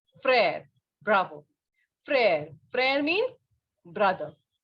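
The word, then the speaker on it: frère: you just understand that wherever this letter e is written with such an accent on it okay accent or a line we can say the pronunciation will be a okay like pear mer similarly this will be prayer bravo prayer prayer means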